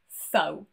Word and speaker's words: faux: The first one is X, and this is not a particularly common letter in English, especially when it is silent. I can only think of one example, and this has been taken from the French language. This is faux.